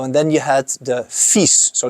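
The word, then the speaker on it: FISE: And then you had the FIS, so not FIRS, but FIS. And FIS is a big competition in French. And big ramps, if you don't know it, Google it, because it's really impressive. FYSE, that's how you spell it.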